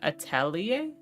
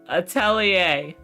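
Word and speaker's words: atelier: Have I been saying it wrong the entire time? Hold on. Uh, pronunciation. Italia. I hate France. I hate French. Stop it. Stop taking normal looking words and making it a completely different pronunciation.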